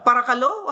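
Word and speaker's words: παρακαλώ: Thank you Heidi uh parakalo.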